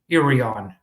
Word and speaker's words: Irion: I contacted their chamber of commerce uh and they told me how to pronounce it. I think it was Irion.